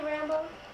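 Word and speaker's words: Rambaux: is awful or something is his name really rambo yeah but it's spelled the r-a-m-b-a-u-x why don't you meet dave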